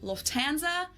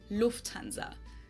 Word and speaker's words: Lufthansa: In English, people usually say Lufthansa, but in German say Lufthansa. So, the emphasis on the first syllable, Lufthansa versus Lufthansa.